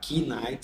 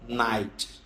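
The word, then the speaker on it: knight: que não é pronunciado Então em vez de você falar k night você fala night e como começa com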